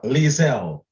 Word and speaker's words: Lizelle: Is it? Lizelle. Have I pronounced it right? Yes, that's good.